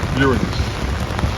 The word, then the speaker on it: Uranus: I mean, it's a it's a simple joke, but technically, I want to get technical, but it's pronounced Uranus.